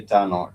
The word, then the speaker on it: tano: If you're talking about five pens, five you would say tano, TANO, two syllable word, no, tano.